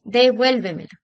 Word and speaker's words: devuélvemelo: Devuélveme, devuélvemelo. Aquí nos damos cuenta que la entonación la vamos a encontrar en la antes de la antepenúltima sílaba. de vuelo. Última, penúltima, antepenúltima, trasante penúltima.